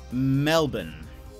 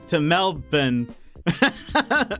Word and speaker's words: Melbourne: No, because a lot of Americans say Melbourne. But a lot of Aussies say Melbourne. Am I saying too much bin? Is there too much bin in there? Is it more of like a bun?